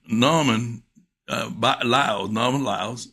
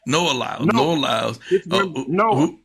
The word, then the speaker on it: Noah Lyles: And Mr. Norman Lyles, am I pronouncing it right? Noah Lyles. Noah, like Noah and the Ark, right? Noah Lyles. That's right.